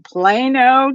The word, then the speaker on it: Plano: love Christie so much because she lives in Plano Texas and you gotta say it like that